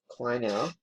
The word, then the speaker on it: Kleinow: Catching and batting eighth, Red Kleinow. That's how you pronounce it.